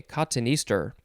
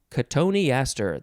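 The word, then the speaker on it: cotoneaster: katoni ester katoni aster you could also pronounce it uh let's see kottenister i think that's the other way cotton easter it is spelled c-o-t-o-n-e-a-s-t-e-r k tony astor that's how i'm gonna say it noun from 1796 any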